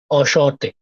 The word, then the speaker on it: enchanté: Enchanté. Enchanté. Enchanté. Enchanté. Slight Enchanté. nasal sound. Shaw. It's not shaw exactly. It's shaw. Enchanté.